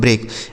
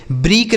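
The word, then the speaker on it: break: इ और ए का उच्चारण हमने यहां पे बड़ी ई बताया। बड़ी ई नहीं बताया। इ बताया तो यहां ए की मात्रा और के से हो जाता है क। इसे पढ़ा जाता है दोस्तों ब्रेक। ब्रेक नहीं पढ़ा जाएगा। ब्रेक पढ़ा जाएगा।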